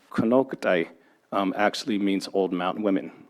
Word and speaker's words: Konocti: So Kanaktai, which in our language is actually pronounced Konoktai, actually means old mountain women.